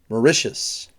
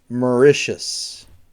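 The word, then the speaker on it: Mauritius: then we have and this is an interesting pronunciation morius morius I know it doesn't look like it but it's morius that's that Island right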